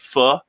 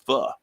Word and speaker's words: Pho: is, I don't know if you've ever had pho, but it's a Vietnamese chicken soup.